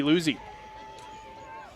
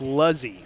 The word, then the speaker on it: Luzzi: And coming in is Lizzie Luzzi. Actually, it's Luzzy.